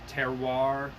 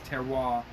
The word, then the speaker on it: terroir: lot of like that they call that terroir terroir to water i can't pronounce most french words or italian words but i think it's terroir but it's like that